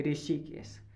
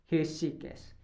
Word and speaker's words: हृषिकेश: अगला देखिए, ऋषिकेश, आज मैं ऋषिकेश गया, ऋषिकेश अशुद्ध है, होगा हृषिकेश, हृषिकेश, हृषिकेश गया मैं आज, हृषिकेश गया। हृषिकेश होता है, ऋषिकेश नहीं होता।